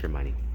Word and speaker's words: Hermione: They meet this annoying girl named I can't really pronounce her Hermione. because it's weird. Yeah, it's Hermione.